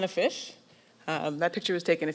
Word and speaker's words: Fyshe: My name is pronounced Fyshe. My first name's, and my last name's Fyshe.